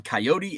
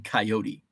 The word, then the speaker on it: coyote: Pronunciation on coyote is however the hell you want to say it. I mix it up. I grew up saying coyote. But now I sometimes it's coyote, sometimes it's coyote.